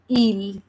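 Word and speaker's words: île: And the last word E, it is silent. So we are just saying it like il.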